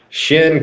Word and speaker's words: Chene: meaning of the name Shin comes it's a French word and it's a shin like the part of your leg your KN right and